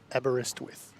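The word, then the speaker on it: Aberystwyth: How do you pronounce it? Abberestwith. Have a rest with Have a rest with Well, you can do that if you like. It sort of helps.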